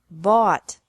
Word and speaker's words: bought: Buy, bought, bought. Catch, caught, caught. Fight, fought, fought. Seek, sought, sought. Teach, taught, taught. Think, thought, thought. Remember that the G is silent in these verbs.